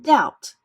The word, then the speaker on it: doubt: b t and Rh when B is before T the B is silent as in doubt when R is before